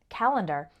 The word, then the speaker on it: calendar: You might notice that when we pronounce it, calendar, it sounds like ER, but when we write it, the correct way is to use AR.